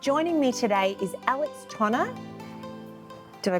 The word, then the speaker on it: Tonner: Natali Sadie and joining me today is Alex Tana do I pronounce that correctly which is yeah founder and